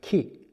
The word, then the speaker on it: Ki: So in Japan, the Qi is actually Ki. And so Qigong is a Kiko.